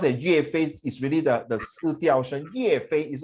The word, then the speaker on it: 岳飞: If you pronounce it 岳飞 is really the 四调声，岳飞 is not 岳飞 the 岳飞 go to war, right?